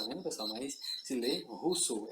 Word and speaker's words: Rousseau: Mas se lê Rousseau, é a pronúncia em francês.